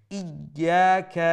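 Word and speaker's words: إياك: দিয়ে বোঝা যায় যে এখানে দুটো ইয়া আছে তো যখনই সাদ্দা অক্ষর আমরা উচ্চারণ করব তখন আমরা খেয়াল রাখব যাতে করে আমরা উভয় এই অক্ষরগুলো আমাদের উচ্চারণ হয় তো এমত অবস্থায় একটু প্রেসার দিয়ে সেখানে উচ্চারণ করতে হবে ই যখন বলবো তখন হামজার পরে একটা ইয়া উচ্চারণ হলো তখন আবার যখন আবার ইয়া বলবো দ্বিতীয় ইয়াটি উচ্চারণ হলো তো এই জায়গায় একটু প্রেসার দিয়ে সেটা উভয় অক্ষরকে উচ্চারণ করবেন ইয়াকা না'বুদু ইয়াকা না'বুদু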